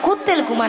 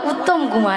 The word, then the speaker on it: উত্তম কুমার: কুত্তেল কুমার নয়, হ্যাঁ। বলো উত্তম কুমার। উ ও উত্তম কুমার।